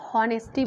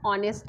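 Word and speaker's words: honesty: अब देखो यहाँ पे ऑनेस्टी है, यहाँ पे एच साइलेंट है, मैंने बहुत लोगों को ऐसे पढ़ते हुए सुना है कि हॉनेस्टी बोलते हैं, हॉनेस्ट बोलते हैं। नोट का सही प्रोनाउंसिएशन क्या है, ऑनेस्ट है, ऑनेस्टी है। यहाँ पे ओ से हम इसका प्रोनाउंसिएशन करेंगे, एच हमारा साइलेंट रहेगा।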